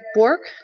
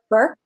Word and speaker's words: Burke: And we've got, is it Bork? Or how do I pronounce it? What's that? Burke. What's that? Burke. Burke. Okay.